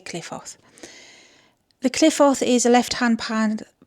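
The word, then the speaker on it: Qliphoth: working called the Cliffoth, or the Cliffoth is how it's supposed to be pronounced, but I say Cliffoth.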